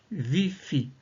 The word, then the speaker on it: ViPHi: Tout à l'heure, nous allons utiliser une respiration nommée viifi qui signifie vivance fronique isqué. En inspirant, on prononcera vie dans la tête et en expirant, on prononcera fi aussi dans la tête.